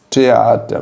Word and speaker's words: Theater: No entanto, o T ele tem uma forma específica de pronunciar em alemão. Você não fala ich will ein Kilo Tomates. Ich will ein Kilo Tomaten. Gehen wir zusammen ins Theater. Você tem que dar uma importância para o T. Tá? A pronúncia é diferente.